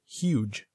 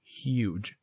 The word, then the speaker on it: huge: would get the word huge the way that you pronounce each letter in the word is h u again we don't pronounce the e at the end all the e does